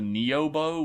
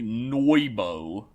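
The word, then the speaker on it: Nyoibo: And his fucking bow that I've always called the Neo bow, which is actually Noibo.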